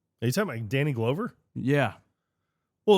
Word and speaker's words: Glover: Are you talking about Danny Glover? Yeah. Well, it's Glover.